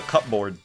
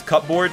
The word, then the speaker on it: cupboard: is it called a cup board you know pronounce it as cup board no you say cupboard see you bb ard